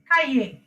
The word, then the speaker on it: cahier: In some word it gives a pronunciation also. Cahier, Kaye. cahier, Can you hear it? Yes, Miss. Yes, it's kaye.